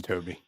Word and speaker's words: Tobii: of it as china's tobii tobi i'm not actually toby i think it's pronounced yeah it's toby yeah yeah so you